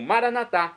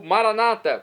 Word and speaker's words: Maranatá: E agora eu clamo Maranatá, como dizemos nós católicos, ou maranata, como dizem nossos irmãos separados, os evangélicos ou protestantes.